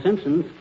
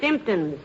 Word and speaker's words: symptoms: Got all the Simpsons. The word is symptoms, dearie, with the emphasis on the first syllable.